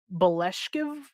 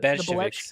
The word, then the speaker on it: Bolsheviks: For example, I'm probably gonna butcher how this is pronounced. The Beleshkiv, the Bolsheviks.